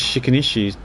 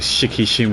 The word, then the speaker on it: Shikishima: Sorry. Shikishima. I said it wrong. I don't know why I said Shikinishi or something. I mean Shikushima tech lab.